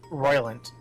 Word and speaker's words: Rolent: Is it Roylant or Rolent? Roylant. Roylant. Ruin, Zeiss, We will- Grand Cell. Okay. All of these proper pronunciations are gonna be fixed.